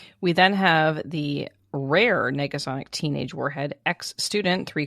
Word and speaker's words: Negasonic: how do you say that word is it Nega Sonic you got it teenage Warhead bored in school